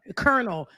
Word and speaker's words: colonel: So they colonel. That is not colonel. When we the L is silent.